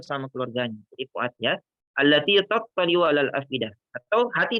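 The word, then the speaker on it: اللاتي: Tulisannya pendek dan banyak yang baca pendek allati. Padahal kita lihat di situ ada namanya mat tabi'i yang bentuk garis lurus ya ke bawah. Maka dibaca panjang itu allati.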